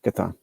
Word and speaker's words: Chthon: I think it's Chthon. Chthon? Like Cthulhu. That's what he said. So Chthon. Dude, even when I pronounce it right, I can't get fucking respect from Sticks over here. No, I'm saying you said it right.